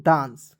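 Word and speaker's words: dance: डान सीई का देखिए सीई का उच्चारण दोस्तों स के रूप में करेंगे तो क्या हो जाएगा दोस्तों डांस डी ए एन सी ई डांस हो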